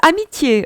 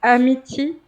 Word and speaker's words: amitié: Yes, amitié also, amitié. Oh, yes. Amitié. They pronounce it amity because they don't put the accent on the E.